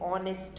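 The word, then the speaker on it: honest: तो वो इसलिए किया हुआ है because H is silent. H word जो है क्या है? वो साइलेंट है, मीन्स हम H को नहीं पढ़ेंगे, वहाँ पे ऑनेस्ट होगा, O। तो कौन सा साउंड आ रहा है यहाँ पे? O, ऑनेस्ट।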